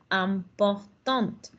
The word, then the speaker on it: important: Si fuera masculino, llegaríamos hasta la N.